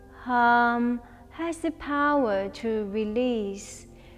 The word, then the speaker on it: Hum: practice meditation so when we do inhale we pronounce soul when we exhale we let it out with harm so i'll demonstrate the